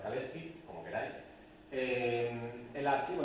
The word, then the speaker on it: Kalecki: autor de de keki a veces también que se pronuncia keski porque en polaco se pronuncia kalski como queráis eh el